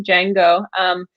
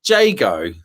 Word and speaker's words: Jago: Do you mean Jago? Yeah, I said it wrong, didn't I? You're being that's the tech in you, because Django is that coding language, isn't it?